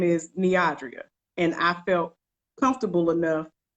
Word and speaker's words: Neodria: Her name is Neodria. And I felt comfortable enough to always say my name. When you don't pronounce my name correctly, I'm going to give